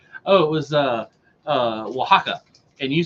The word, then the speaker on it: Oaxaca: it was uh uh Oaxaca and you said oh waxica or something like that our oxycard yeah it's Oaxaca but you oh and even